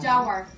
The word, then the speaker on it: Jaguar: Jaguar.